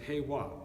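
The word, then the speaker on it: 平和: here in Southern California the Japanese word for peace is hey WA and it is formed by the two Chinese characters which are pronounced in Japanese hey meaning level and Hwa meaning harmony there for peace is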